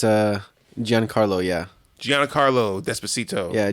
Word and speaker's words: Giancarlo: that's for CEO despacio Esposito but it's uh Giancarlo yeah Gianna Carlo despacito yeah Jackie Chan is